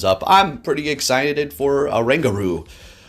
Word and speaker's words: Oranguru: I'm pretty excited for Oranguru. Sounds like kangaroo. I had to double check to make sure that's how you say its name because I was like, I can already see it now.